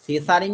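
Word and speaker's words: Tshering: আছে একবার চেক করে নেবে এনার নাম হচ্ছে সেসারিং সোবাগ টোটোবাগে দেখো টি টা কিন্তু সাইলেন্ট রয়েছে সেসারিং টু ওয়ার্ল্ড ঠিক আছে ভুটানের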